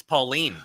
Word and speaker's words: Pauline: well you're wrong it's pauline pauline okay but how do